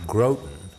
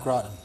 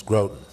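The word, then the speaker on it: Groton: have to chat about Dean was born in growth and that is the way they pronounced it not gratin not gratin I've been there a couple of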